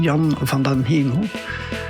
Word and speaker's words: Jan van den Hemel: And Jan van den Hemel, that's a Dutch guy. And I'm Dutch, so I know how to pronounce his name, Jan van den Hemel.